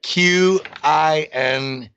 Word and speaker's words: Qinetiq: Kinetiq. Kinetic. Yeah, but it's spelled with Q's instead of a K in it. So it's kinetic.